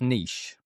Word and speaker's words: niche: And I didn't know what he meant, but I do remember thinking it's pronounced niche. Niche.